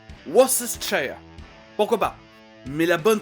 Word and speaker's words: Worcestershire: Worcestershire. Pourquoi pas? Mais la bonne prononciation, c'est... Worcestershire? Now that sounds fancy. It's Worcestershire.